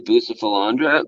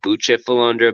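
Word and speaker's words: Bucephalandra: colors and leaves to boost the philandra but which is actually pronounced butcher philander but I'm never gonna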